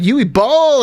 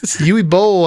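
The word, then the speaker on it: Uwe Boll: charming let's talk about yui ball everybody i knew it i knew he was going to be on here yui bowl i should say sorry i mispronounced his name but you know what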